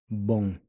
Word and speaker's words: bom: Notice how I'm not pronouncing the M like you would in English and saying boom. The O-M is a nasal sound. The M here sounds closer to an NG, but it's almost like you don't quite finish pronouncing the G.